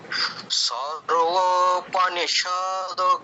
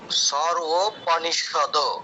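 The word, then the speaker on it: সর্বোপনিষদো: সরবনিষদ গাও সরবনিষদ গাও পনিষতে দীর্ঘ করছেন কেন ওটাতো দীর্ঘ নেই সদ সদ সদ সরপনিষদ হ্যাঁ স বলে সাথে সাথে দতে চলে যাব আবার একবার সরপিষদ গাও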